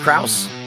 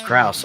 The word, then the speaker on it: Krause: I am here with it's pronounced Krauss kuss yes Krauss all right and of course I'm Ron Rogers